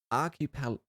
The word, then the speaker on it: archipelago: The Iron Kingdom is an archipelago?